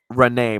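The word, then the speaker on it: Reneigh: Renee, but it's spelled like Rena, like Renee, like The girls gag me.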